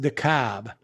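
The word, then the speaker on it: DeKalb: would not um uh the cobb is pronounced decab the cab like a mass hole okay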